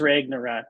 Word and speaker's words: Ragnarok: ra how do you say Ragnarok it was Ragnarok yeah Ragnarok third one that's the third one